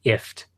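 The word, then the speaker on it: IFTTT: Apparently, when they added the OnHub integration, Google went out of its way to say, by the way, the company's name is pronounced IFT, which I think is stupid.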